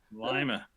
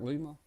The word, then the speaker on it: Lima: Lima Ohio llama llama is it spelled like lima spelled like lima well how do you know it's not Lima well I've been here a long time and they always called it Lima yeah I don't know